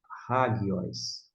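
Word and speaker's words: ἅγιος: Hagios. Note que não está aqui hagios, e sim hagios. Hagios, por quê? Aqui está a sílaba tônica, ó. Digo, a sílaba tônica é essa aqui, ó. Hagi, esse gi.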